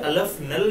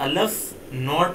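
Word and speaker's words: aleph-null: ठीक है, तो ये इसको बोलते हो अलफ नल, या फिर अलफ नॉट भी बोल सकते हो प्रोनाउंस करने के लिए, अलफ नॉट।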